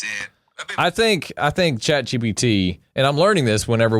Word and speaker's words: ChatGPT: Say it right. ChatGPT. There you go. ChatGPT.